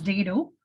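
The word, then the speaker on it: dhido: And your dodo, how do you pronounce DHDO? It is a ragi mudde in Karnataka. And your dado, ma'am. It's dado. It's known as dado.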